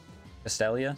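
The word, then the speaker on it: Castelia: Castellia, sorry. That's how you pronounce it.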